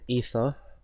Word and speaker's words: Aether: I'm going to be showcasing ether or Acer depending on how you say it if you like